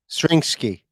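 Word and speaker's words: Zrinjski: Yeah, Zrinski is I think is how you pronounce it.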